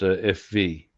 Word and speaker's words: VW: Okay, now you'd be familiar with the Volkswagen being well, we call it VW, Yeah. but the Germans call it FV, just because that's the way they pronounce it.